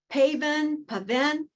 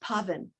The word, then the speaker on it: Pavan: He is sometimes called Pavan, but it's pronounced Pavan. And he tells people it's like oven with a P in front.